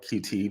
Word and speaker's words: Qt: like C plus plus QT cute cute it's like a framework um they call it cute I call it QT because that's how you spell it but um qml programming